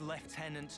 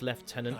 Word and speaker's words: lieutenant: about we start with Lieutenant Travis and go from there eh nice British pronunciation of Lieutenant rather than the American lieutenant don't sweat it no